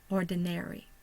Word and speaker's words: ordinary: those together go ahead the schah will be the second syllable and the primary stressor is on the first syllable the second stressor or secondary stressor is on the third syllable so we have or